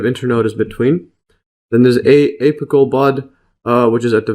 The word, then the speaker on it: apical: So MES note, apical bud. Let's see the pronunciation here.